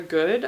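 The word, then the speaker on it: Gode: So it's called Sister Mischief by Laura Good, I think, but it's spelled G-O-D-E.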